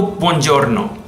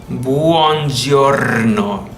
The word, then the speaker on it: buongiorno: in other different videos we all know buongiorno buongiorno not pose you're not buongiorno there's a you in there and the arm is